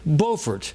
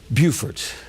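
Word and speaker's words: Beaufort: Uh O comes before U, N before S. It's an easy way to remember it.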